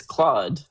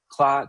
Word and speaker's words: Claude: it's Claude and not, how would an English people say Claude?